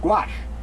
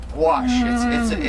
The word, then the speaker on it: Gouache: Well, you don't have to go that pronounce the U too much. Gouache. Like iguana. In other words, don't make it sound like Hungarian goulash. Gouache.